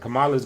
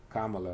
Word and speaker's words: Kamala: You said Kamala's gonna destroy him. I agree. I'm reading back what you said earlier. Kamala, boy. That's how you say it. Oh, okay. Kamala. I thought it was Kamala.